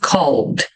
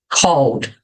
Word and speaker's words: called: levar Ed o som quando eu tenho Ed no final normalmente eu não vou pronunciar o e Ok então aqui eu vou falar e não Call Ok Called mas existem exceções se